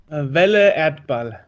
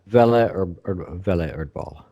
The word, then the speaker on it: Welle Erdball: So in a second, we have Welle, is it pronounced? Welle Erdball. Welle Erdball.